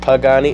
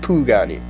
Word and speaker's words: Pagani: Isn't it pronounced Pagani? No, it's pronounced Pugani.